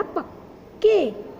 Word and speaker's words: पक्के: Fourth है पक्के, प का आधा है। ओके, तो उसका उच्चारण होगा पक्के, के, पक्के।